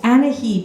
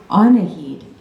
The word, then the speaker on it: Anahid: "Oh, Anahid," she says, She doesn't get any further because Coda comes out and carefully yet confidently interrupts her. "Actually, my mom's name is pronounced Anahid."